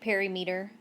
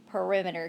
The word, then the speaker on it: perimeter: word here is perimeter I know it looks like perimeter and I know somebody will call it that but the correct way to say it is perimeter can you say it